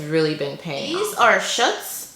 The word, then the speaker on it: Schutz: These are Schutz. I finally learned how to say this brand, Schutz.